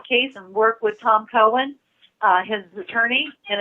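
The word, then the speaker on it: Coan: They're going to take on the case and work with Tom Cohen, his attorney, and it's spelled C-O-A-N, Tom Cohen.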